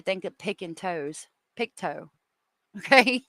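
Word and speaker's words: Pictou: It's Picto country. It's spelled Pikto, but it's Picto.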